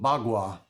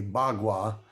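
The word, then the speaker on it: Bagua: deals with energy uh called bwa spelled paqua um but any um well- defined uh person speaking the higher Chinese would say bwa um which is done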